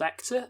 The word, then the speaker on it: Ector: sapelinor who informs lord actor that by the way it's called hector without an h that's not just us